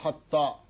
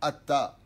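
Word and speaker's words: אתה: Pas Baruch Hatta. Dieu il n'a pas Hatta. Hatta ça veut dire fauter. Baruch Atta.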